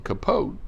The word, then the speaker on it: Capote: and pay our respects to truman capote i pronounce his name capote because that's how the good folks in monroeville